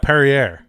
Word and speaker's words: Perrier: Yeah, it's like Perrier. Perrier. Wow, I butchered that. I was like Premiere.